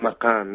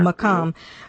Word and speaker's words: Maqam: The Iraqi Maqam, is that how you pronounce it? Maqam, yeah. Maqam.